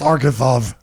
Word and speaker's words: Arkansas: It's Arkansas. We spell it with two S's. See you. We had a president from our state, our country. Arkansas. Arkansas. Arkansas. That's not your Kansas. That's Arkansas.